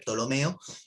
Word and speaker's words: Ptolomeo: el siglo segundo apareció ptolomeo que se escribe con p al principio hay una peli casi no se pronuncia es ptolomeo él hizo los primeros